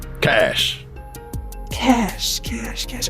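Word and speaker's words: Kache: you what's your name cash cash cash cash that's like a human idiom isn't it for like credits oh it spell it with a k k a c h e oh I don't worry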